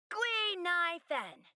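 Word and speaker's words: Guinaifen: My real name is Guinevere. But a Xianzhou friend came up with an authentic Xianzhou name based on the pronunciation. Gui Nai Fen.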